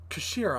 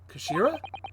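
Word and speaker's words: 頭: end of the hilt it's written as head in japanese but it's pronounced as kashira i believe kashira so mr ozogi's words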